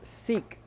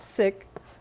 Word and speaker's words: seek: right the next word seek seek s e e k s e e k seek seek not sick different word a lot of a